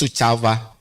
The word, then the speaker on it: Suceava: Suceava, this is how we pronounce Suceava.